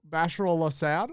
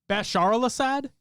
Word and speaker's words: Bashar al-Assad: place went to oe or injustice yup bachelor bashar al-assad i don't know grand lash shadow and snakey